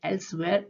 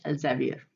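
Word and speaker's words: Elsevier: अच्छा, इसके दो प्रोनाउंसिएशन है, एक एल्सवेयर, एक एल्जेवियर। बहुत सारे लोग एल्जेवियर बोलते हैं, बहुत सारे लोग एल्सवेयर बोलते हैं।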